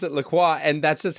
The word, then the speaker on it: LaCroix: And because I'm an insufferable snob, I pronounce it La Croix.